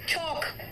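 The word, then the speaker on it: chalk: अब आओ next L, देखो बेटा कहां कहां साइलेंट है, देखो एल साइलेंट कहां कहां है। इट्स वार्म, फार्म, चौक, मेरे साथ बोलो, प्रोनाउंसिएशन सही करो।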